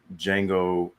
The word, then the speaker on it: Django: I was like, Django from Star Wars, Django Unchained. They're spelled differently, but pronounced the same.